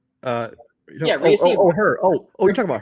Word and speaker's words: Rhea Seehorn: Yeah, Rhea Seehorn.